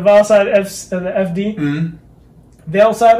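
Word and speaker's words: VeilSide: Vail Side, I think is what it was. Vail Side? Vail? I think it's Vail. Vail Side. V-E-I-L-S-I-D. I know how to spell it.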